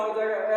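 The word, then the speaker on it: hedge: डी जी ई ई डी जी ई इसका हो जाएगा एज एज मींस किनारा यहां डी नहीं बोला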